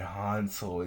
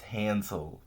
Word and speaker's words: Hansel: I I said Hano it's Hansel that